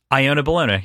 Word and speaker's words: Iona Bologna: never gonna forget it is that actually how it's pronounced iona bologna yep not iona nope ayanna